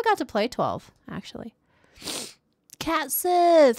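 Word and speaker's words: Cait Sith: to play 12 actually cat Sith how do you say that name oh it's Kate Sith I've always said Kate like Caitlyn you've seen Bugan Heen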